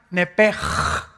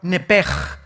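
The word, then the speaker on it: נפש: La palabra, la letra o las letras sh en del hebreo se pronuncian en hebreo como J. Entonces se pronuncia nepj.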